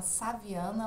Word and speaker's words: shaviana: é a chave Ana que se chama saviana mas aí se escreve chave chaveando vai estar aí